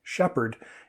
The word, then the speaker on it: shepherd: So the PH here, the P comes from the end of one word and the H comes from the beginning of the next word. And that's why we say shepherd instead of shepherd.